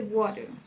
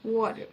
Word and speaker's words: water: Water, water. Exactly. Yes, that's perfect now. You've got it. So just keep that soft T sound, and everything else sounded really good.